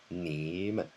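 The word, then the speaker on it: 你们: in the second tone when put together nǐmen nǐmen you can hear the "men" I'm just, you almost don't say it. It's just very fast, you just add it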